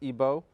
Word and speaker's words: Igbo: He's studying at the Florida International University, but he comes from Nigeria, from the Igbo tribe, otherwise pronounced Igbo.